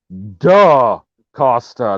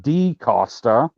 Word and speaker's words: DaCosta: whoa whoa whoa dude her name is spelled with an a is it not no no it's no it's nice yes it is duh costa not d costa okay i'm sorry duh